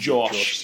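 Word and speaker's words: Jawsh: be Josh Josh Josh it's spelled j-a-w-s-h but I reckon that's meant to Josh Josh 685 Jason Derulo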